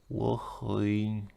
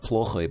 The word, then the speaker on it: плохой: It's not плохой but плохой because apparently you stress the ending.